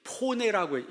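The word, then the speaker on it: φωνή: 그러니까이 소리를 이제 포네라고 얘기했어요. 헬라어로 포네라고 하는데 여러분 소리를 영어로 뭐라 그래요? 폰이라고 하죠. 폰. 그게 이제 헬라에서 나온 말이거든요. PH O를 그 스펠링 그대로 읽으면 포네가 됩니다. 포네.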